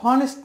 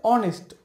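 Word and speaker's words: honest: দেখুন অ লেখা আছে অনেস্ট, এটা কিন্তু হনেস্ট না, সঠিক উচ্চারণ হচ্ছে অনেস্ট।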